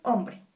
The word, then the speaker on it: hombre: Dividimos hombre, sílaba tónica om, y termina en e.